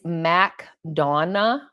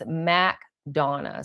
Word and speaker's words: McDonough: It's McDonough. So, if you come here, I was saying McDonough, McDonough. They're like, "No, that's not how you pronounce it." And people get really upset, the natives here.